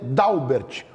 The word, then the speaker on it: Dalbert: Inter nos esclarece que a pronúncia correta é dalbert como se tivesse um acento lá não tem dalbert contém mudo tá então é dalbert está sempre na escuta